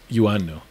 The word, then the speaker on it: Ioannou: Yeah, Ioannou, but it's spelled IOA, so people always like Ioannou, right? And which is like the way to kind of word it out. Yeah. However, it's a Cypriot origin name.